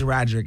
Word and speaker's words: Roderick: 2 syllables. Now, do I never say your name right? It's Roderick.